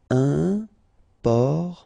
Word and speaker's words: important: Important. So final T not pronounced. And then remember, you've got this E-M, and after that it's a consonant, so it is here nasal. Un. Important.